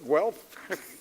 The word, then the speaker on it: Guelph: Notice I pronounced it properly, Guelph.